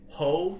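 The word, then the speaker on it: Heaux: i'm pronouncing her right hoe tales yeah that's how you say it is that right yeah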